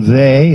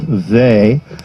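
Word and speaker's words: Weil: discovered some years ago Simone they it's spelled w-e-i-l but it is they and uh these two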